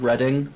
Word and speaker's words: Reading: We have a town in the UK called Reading, but it's it's spelled reading.